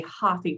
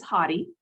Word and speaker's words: Hathi: sometimes you'll hear a lot of people say hoffy trust or happy trust if you're me from the south uh the correct pronunciation is hottie hottie is the hindu word for elephant which